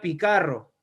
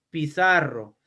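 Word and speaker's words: Piçarro: y ya no sería picarro, ya no sería picarro, sería ahora pizarro. Entonces, la cedilla es aquel signo que te está indicando el cambio de pronunciación de esta letra que nosotros conocemos como la C.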